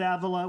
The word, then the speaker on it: Avila: more time Avila Avila yeah we were we pronounce it Avila we don't care what you call us as